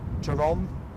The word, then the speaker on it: Tarom: Tarom, that's how you say it, the Romanian airline.